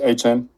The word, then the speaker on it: Etienne: Travis Etienne, I think is how we say his name now.